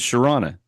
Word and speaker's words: Shira: people that don't know my wife's name is Shira uhuh and I always say you know like piranha but it's so she's